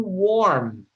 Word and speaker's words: warm: I will spell it out for you. Mhm. Okay, thank you. Worm. W-O-R-M. Worm. Warm. Warm. Or Warm. warm. W-A-R-M. Warm. Warm. Warm. Warm. Warm. Warm. Warm. Like war.